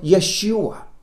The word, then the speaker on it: Yeshua: joshua you would you pronounce it in hebrew like yeshua do you hear it